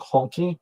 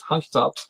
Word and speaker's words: Hunky Tops: And the way I pronounce it, by the way, is hunky as in as hunky. It's not honky. I'm sorry. It's Hunky Tops.